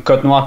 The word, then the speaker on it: Cotnoir: Est-ce que je le prononce bien? Oui, parfait. C'est aussi simple que ça, c'est Cotenoir.